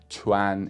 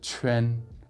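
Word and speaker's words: quan: a coffee shop and I actually noticed him saying Q-U-A-N, pronouncing it as chuan instead of chuen.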